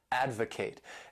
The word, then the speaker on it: advocate: This word has three syllables and the stress is on that first syllable, advocate.